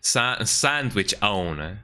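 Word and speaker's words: sandwichón: it is just called sandwichon, Maybe pronounced differently, like sandwichon or sandwich on or something like that. I don't know, but it is supposed to be pronounced sandwichon with an accent on the on.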